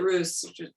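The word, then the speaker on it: Rhus: like, for instance, that Russ, I always pronounce it Roos. Roos, yeah. Just to show you what do I know? No, Roos, yeah, Roos is fine.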